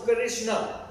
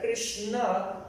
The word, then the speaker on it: Krishna: So, in Sanskrit, so the word charisma comes from Krishna. Entonces, en sánscrito la palabra carisma es Krishna. So, it has two syllables, Krish and Na.